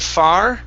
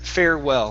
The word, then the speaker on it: farewell: Instead of far, it's fair, farewell.